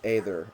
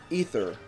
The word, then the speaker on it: Aether: how you say either because there is an a there it makes an a sound it's not either it's